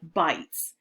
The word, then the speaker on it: bight: that they have, and these bays are called bites. And I know it's spelled different than bites, which is what you do to your food.